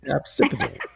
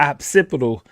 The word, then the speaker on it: occipital: She's right. She she didn't pronounce it right, but she is right. Obsipital. She call it the occipital.